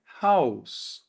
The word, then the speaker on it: Haus: Quando eu tenho agora o S no final de uma palavra, a gente vai pronunciar como um S mesmo. Ou então quando ele aparece antes de uma consoante. Então a gente pronuncia com som mesmo de S normal. Por exemplo, a palavra casa em alemão é Haus, ok?